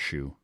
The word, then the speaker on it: Hsu: So you have Michelle Yeoh as Evelyn, Stephanie Hsu, I think it's pronounced Shu. It's HSU.